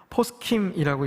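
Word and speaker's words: פוסחים: 머뭇머뭇거리다의 히브리어는 포스킴이라고 읽혀집니다. 이것은 패삭의 복수형입니다.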